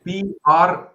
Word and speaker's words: prieten: Prieten. T. Prieten. Okay. Prieten. Yeah. It's like bry and 10.